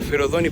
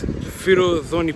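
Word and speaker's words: Forodhani: to this place called ferozani Park I keep pronouncing it wrong I think but it's firozoni Park if you guys bought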